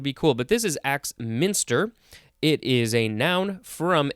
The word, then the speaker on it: Axminster: All right, first word for this episode is Axminster. Axminster. It is all one word. It is spelled capital AXMINSTER. It's like axe monster.